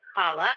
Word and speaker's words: Challah: I'm at Plantains and Challah, but it's spelled like Challah. It's just pronounced Challah, so it's a little throaty sound.